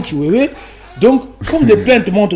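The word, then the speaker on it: Tshiwewe: Chiwewe ou Chiwewa? Excuse-moi d'avoir mal prononcé son nom, Chiwewe.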